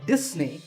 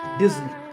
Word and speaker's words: Disney: this if you said disney that's the mistake the s in the middle is actually a z sound as you can see in the pronunciation symbols on the screen so it's disney remember number five is